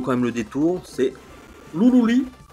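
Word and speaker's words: ルルリ・ラ・ルラ: Alors ça s'écrit Ruruli, Ra, Rura. Mais notre ami Florent Gorge nous dira, ouais mais attendez, les R ils sont prononcés comme des L. Donc quelque part, ben, Ruruli, Ra, Rura, faut le prononcer, Loulouli, La, Loula.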